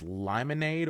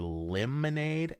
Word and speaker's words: Lymonade: um I think I'm not sure if you pronounce this limonade or lemonade l y m o n a d e I'm going to go ahead and go with limonade um just cuz that makes the most sense it's a new flavor